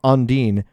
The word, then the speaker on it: Ondine: And we've learned, for the record, my name is pronounced Ondine, which, if you didn't know, is French for water spirit.